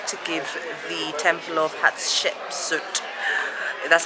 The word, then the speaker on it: Hatshepsut: kings we've decided to give the temple of hatshepsut that's how you pronounce it a miss because honestly we're just